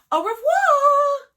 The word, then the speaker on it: au revoir: a glamorous hollywood party i tell my fans au revoir you say it like this that's french for